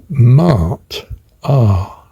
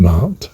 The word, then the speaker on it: Maat: The pronunciation um Google says is typically Mart R, which of course is my phonetic alphabet again, isn't it? Double A for the um uh word indicating the divine god. Ah, absolute awe and wonder. Ah, double A. So I've entitled this uh recording M accordingly and I'm now pronouncing it as M Mart.